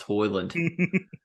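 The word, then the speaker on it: Højlund: for the fact that his last name is pronounced that bus to Holland shit's pronounced hoyland if he can give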